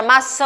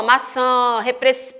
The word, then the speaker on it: maçã: Quando você pronuncia a palavra maçã, ó, maçã, perceba que esse an aí, ele é nasal.